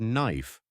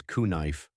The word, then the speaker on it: knife: Take the word knife. Why is there a K? Nobody says kuh-nife. The K is completely silent.